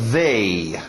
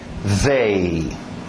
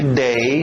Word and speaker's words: they: O último, TH de zorba, they. They. Nada de they, não, é o zorba, they.